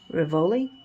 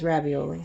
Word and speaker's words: Rivoli: Janine Worthington and Franco Rivoli I was trying not to pronounce it as ravioli so we'll see a